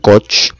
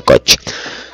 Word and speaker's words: Koch: tratados que hizo robert koch que robert coco no porque es un término alemán no se ha probado no se pronuncia coche bueno sífilis ya hemos